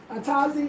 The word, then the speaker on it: Atazi: Atazi is how you say it in Ewe, Atazi, but it's actually the peppers.